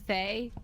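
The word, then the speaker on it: Thaye: So Thay rhymes with decay.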